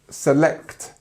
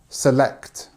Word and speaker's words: select: your phone okay um select notice how the stress is on the second part of the word here reset select okay not my cup